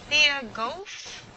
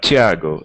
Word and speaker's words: Thiago: uh Thea go uh I know I'm saying the wrong the name wrong uh Thea go hello teacher how are you you doing good how do you pronounce your name uh Thiago that's Thiago oh my goodness I was so wrong because it's a nickname